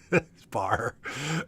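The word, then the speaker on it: Barre: place yeah it's it's it's spelled b-a-r-r-e yeah but it's it's like uh you know secretary or like uh attorney general barr could go bear but it's bar it's a bar class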